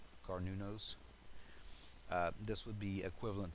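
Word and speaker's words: Cernunnos: uh it's spelled c-e-r-n-u-n-n-o-s but it's actually uh pronounced carnonos carnunos uh this would be equivalent to the devil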